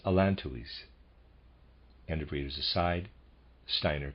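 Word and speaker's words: allantois: close quote readers aside i'm pronouncing the word a-l-l-a-n-t o-i-s as alan tuis end of readers aside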